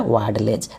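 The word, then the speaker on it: Vadlejch: जकब ल डले ज वाड लेज देखिए स्पेलिंग है डब्लू ए डी एल ई जे सी एच लेकिन इसको हम पढ़ेंगे क्या वाड लेज जकब वाड लेज ये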